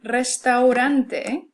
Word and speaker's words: restaurante: We have rojo and restaurante. Okay, notice that these begin with an R. It's written as a single R, but we pronounce it as a trill because it starts off the word.